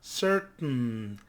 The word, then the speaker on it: certain: We stop the T and then we pronounce the N, no? Certain, certain. This is called a glottal T.